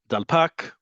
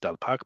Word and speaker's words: dalpak: Dalpak or Delpek, depending on who you're talking to, but it's usually pronounced Dalpak by Israelis, the check-in desk.